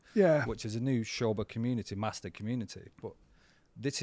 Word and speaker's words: Sobha: sober yeah well I was sober but it spell sober right but it's like maybe it sounds too sober maybe someone said that you make it sound more exciting so give it an ish sound at the beginning yeah exactly so I